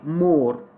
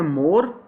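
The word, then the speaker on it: more: इसी तरीके से वर्ड है जी आगे मोर। अब हमारे पाकिस्तानी स्पीकर्स इसको पढ़ते हैं मोर, और इसकी वैसे प्रोनाउंसिएशन है मो।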